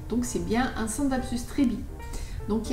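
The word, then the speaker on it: Treubii: Alors, le prochain, c'est un Scindapsus Trebi. Alors, ne pas confondre avec Truby. Trebi.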